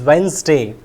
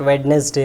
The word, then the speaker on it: Wednesday: are uh pronounced wrongly first one is Wednesday it is Wednesday not wedes day or something like that then this is resume